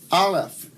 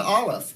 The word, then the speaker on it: aleph: Beit, ba, resh, r, aleph. They actually say it's a silent letter, and you don't. It sort of gives the A sound.